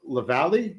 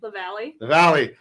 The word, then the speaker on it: LaValle: I look at his name. I don't know why it's so challenging for me to remember how to pronounce it, but I think I pronounced it I put the emphasis on every syllable since we've been showing his properties here.